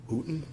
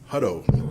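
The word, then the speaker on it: Hutto: was hired by the hooton Tex how do you say it huto Texas Police Department he served four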